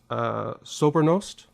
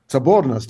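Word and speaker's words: соборность: One word that I loved, and which I think is very important for our discussion, if I'm pronouncing this, Sobernost? Sobornost, yes.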